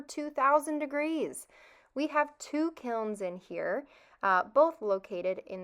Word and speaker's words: kiln: I first want to emphasize the spelling and pronunciation of kiln. It ends in the letter N.